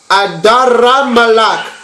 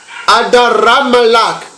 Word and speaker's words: Adramelech: So Adramelech, Adramelech in ancient Paleo Hebrew is pronounced as Adaramalak. Adaramalak.